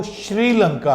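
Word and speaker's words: Sri Lanka: देखिए, इसकी जो रियल प्रोनाउंसिएशन है वो श्रीलंका है, लिखा SRI जाता है लेकिन इसको श्रीलंका पढ़ा जाता है, बोला जाता है।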